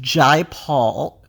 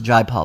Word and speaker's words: Jai Paul: was helpful because it told us how to pronounce the guy's name so it's Jay Paul it's Jay Paul not Jay Paul I originally thought it was dry Paul but it's Jay Paul so I mean there